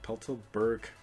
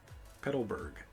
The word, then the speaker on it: Petalburg: right put the board i can't even pronounce it pelto burke city petalburg there we go uh let's get some